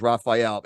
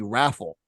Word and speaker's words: Raphael: my name right he my real first name is Raphael he will call me raffle I'm like raffle I'm